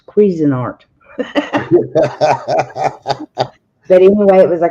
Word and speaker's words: Cuisinart: And Crazy Irish says, honey, that's not croissant. That's Cuisinart.